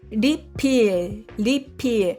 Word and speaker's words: 리필: Aqui, refill é refill em inglês, né? Mas pronúncia na Coreia, refill.